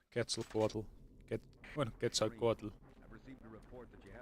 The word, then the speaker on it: Quetzalcoatl: Aztecs were here since Quetzalcoatl. Right. By the way, that's the correct pronunciation. I have heard people call him Quetzalcoatl. Quetzalcoatl. And of course, that's an Anglicism. Yeah, the correct pronunciation is Quetzalcoatl.